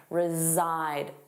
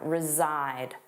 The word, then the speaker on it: reside: Notice that pronunciation, reside, z-zide, the voiced sound, reside.